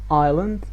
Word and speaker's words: island: And the last rule is before silent G and S. Might, sign, island, and sigh. So as you can see, G here and S here is not pronounced, so that's why we call it silent.